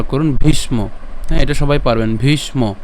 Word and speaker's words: ভীষ্ম: ভীষ্ম এটা সবাই পারবেন ভীষ্ম এখানে মূর্ধন্য আছে সেজন্য উচ্চারণ কেমন ভীষ ভীষ্ম এরপর দ্রণ প্রমুখ কেন কারণ